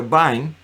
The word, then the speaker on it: Vine: de w e vain se escribe como vine verdad pero se pronuncia byne encuentra una plática muy